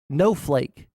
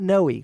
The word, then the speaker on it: No Flake: I wanted to watch the No Flake. It's not Noe. We've been saying it wrong the entire time.